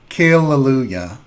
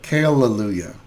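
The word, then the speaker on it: Kale-Lalu-yAHA: the often mispronounced exfoliator is kaleluja which is clever because it has kale and also ahas alpha hydroxy acids and it's trying to sound like hallelujah but with kale kaleluja i like to apply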